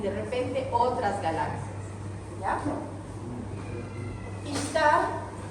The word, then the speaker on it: Ishtar: Ishtar, que se escribe S-H, para nombrarlo como si fuera una H, Ishtar, es la diosa del amor y la fecundidad.